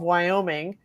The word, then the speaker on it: Wyoming: I'm going to have to go with Senator Cynthia Lummis, rhymes with hummus, of Wyoming, who was only one of several national-level politicians